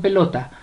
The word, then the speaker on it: pelota: Vamos con pelota. Pelota. La mayor fuerza de voz la lleva en lo.